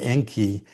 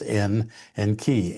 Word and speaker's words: Enki: And it goes from the Sumerian where Enki um was supposedly the well Enki in the Sumerian um salaby um has two syllables N and key.